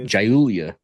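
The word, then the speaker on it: Giulia: and it's funny because it's spelled with a G yeah jul Julia Julia gulia um overall I gave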